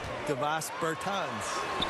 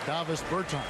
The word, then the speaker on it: Davis Bertans: Oh, well, now, at this point in my life, it's Davis Bertans. Is that how you say his name? Yeah. Davis Bertans.